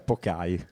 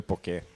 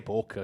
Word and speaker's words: poke: No, non si dice Pok, si direbbe Poké. Dai, in italiano lo diciamo Poké. Sì, o anche Poc, cioè c'è gente che lo chiama Poc.